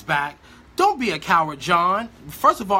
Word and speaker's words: Jawn: She writes back, "Don't be a coward, John. First of all, I'm so excited that she's learned how to say my name because she was calling me Juan for a long period of time.